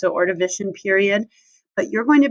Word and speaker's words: Ordovician: You pronounce it Ordovician period, but you're going to be working with